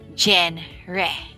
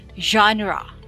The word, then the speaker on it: genre: good what about number three you may be pronouncing it jen re right genere but it's actually jean raw okay one more time genre the french word meaning kind or sort woefully